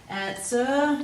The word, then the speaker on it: answer: end of the word answer we've got silent w but we've got that er sound at the end formed